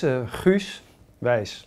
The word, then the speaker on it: Guus Weiss: So how do you pronounce it? Well, it's Guus Weiss.